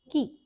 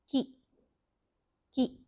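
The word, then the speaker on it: कि: So now let's try to pronounce this c plus short e becomes key. Okay, it's not k e. The pronunciation is not k e. It becomes key.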